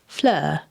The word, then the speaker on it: Fleur: Today's guest is one of my dear friends and colleagues and teammates, Flur Robinson, and is pronounced Flur.